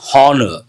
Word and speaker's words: honor: Honor, it is not honor. H is silent.